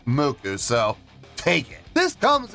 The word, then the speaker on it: MUCC: they called mck no no they're not called Muk I've been told this in the past it's pronounced muku yes indeed how about that muku making their debut on the channel before we